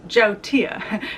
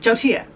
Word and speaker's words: yautia: saying it like a total gringa it's actually pronounced Joe Tia Joe Tia Jodi yeah but I say Yahoo do you